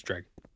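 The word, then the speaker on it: Dreugh: a con consensus on how to pronounce dreg um well I say dreg and I'm never wrong so it's dreg maybe we should get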